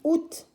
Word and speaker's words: août: n'êtes pas à école alors août s'écrit à août àoût mais se lit août en français 8e mois